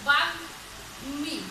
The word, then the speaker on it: বাগ্মী: যেমন বাগ্মী, গয়ের সঙ্গে মটা যখন হচ্ছে তখন উচ্চারণ হচ্ছে বাগ্মী, অর্থাৎ বাগ্মী। খেয়াল করো এখানে কিন্তু ম ময়ের উচ্চারণটা হচ্ছে, এর আগে কিন্তু ময়ের উচ্চারণগুলো হয়নি। তো বাঘ মি।